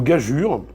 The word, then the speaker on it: gageure: à savoir sur le mot gageure, enfin sur le E égale U, pourquoi EU se prononce U, et lui retrouve un vestige de cette ancienne prononciation, moi j'en ai retrouvé 3.